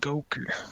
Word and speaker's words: Goker: Well, I saw somebody in the chat said my guy should be called Goker. That's pretty good. A hard G. Hard G and everything.